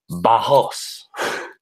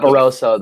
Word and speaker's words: Barros: Ariel Helwani made sure people knew this is how you pronounce his last name. Barros. Not Barroso. There's a Barros.